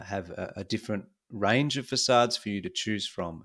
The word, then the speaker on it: facade: third one facade uh so pronounce facade not Forcade is really the front